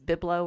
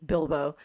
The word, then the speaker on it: Bilbo: I missaid Bilbo for ages because I said it out loud to myself as Biblo or something. I don't know what I was Oh, thinking. And so getting the Hobbit's name right, it's Bilbo.